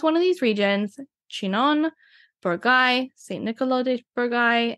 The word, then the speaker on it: Chinon: look for these subregions within Touraine, which include Chinon, Bourgogne, which doesn't look anything like how I'm saying it.